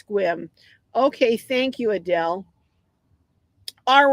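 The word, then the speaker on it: Sequim: I don't know if I'm saying it right, but I think it's Squim.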